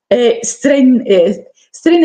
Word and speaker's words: strennae: regali di buona fortuna, cosiddetti strenne è scritto però strennae, ecco, ae, perché in latino ae si legge e, ok?